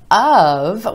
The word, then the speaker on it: of: number four Oh F of when it comes before a word that starts with a consonant sound is typically gonna turn to ah ah wanna I need